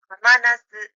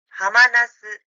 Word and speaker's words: ハマナス: 다시 세 글자 한자는 해당화를 의미하는 하마나스라고 읽습니다. 하마나스, 하마나스.